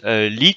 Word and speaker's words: 1337: infous contre lit 1337 mais on prononce lit si je me trompe pas Benny ouais c'est ça voilà tout à fait